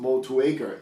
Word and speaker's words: Motueka: it's a city in new zealand and it's pronounced motueka in new zealand so we're gonna call it